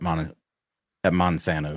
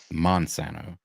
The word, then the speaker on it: Montesano: The last time, year before last at Monsanto, let me say it correctly. Montesano.